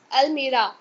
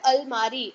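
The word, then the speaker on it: almirah: So here the it's यहाँ it's Almira. So यहाँ पे लिखा हुआ है अलमारी। अलमारी इज अ रॉन्ग प्रोनाउंसिएशन। ये एक हिंदी प्रोनाउंसिएशन है।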